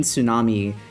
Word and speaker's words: tsunami: I used to pronounce the P in pterodactyl, the T in tsunami, and the L in salmon.